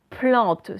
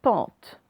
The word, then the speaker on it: plante: P et L. P-L. Plante, ce n'est pas pente. Ensuite, nous avons une brouette.